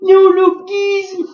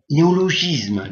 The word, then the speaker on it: néologisme: quoi ça ce néo néologuisme monsieur le journaliste néologisme néologisme madame mais mais mais mais mais c'est un gu qui se prononce gu euh oui mais la